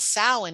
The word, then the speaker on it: Samhain: Westerners call Halloween, but it's also called Samhain, even though it's spelled Samhain. It's not Samhain, it's called Samhain.